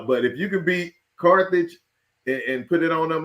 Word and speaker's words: Carthage: Carthage.